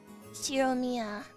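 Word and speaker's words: Ushiromiya: First part is my family name, Shiromiya. That's fairly plausible Japanese pronunciation so far.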